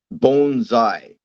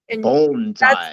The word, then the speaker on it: bonsai: Bonesai bone. Bonesai. That's the Japanese pronunciation.